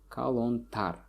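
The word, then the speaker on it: калонтар: As you can see, the stress falls on the suffix here, kalontar.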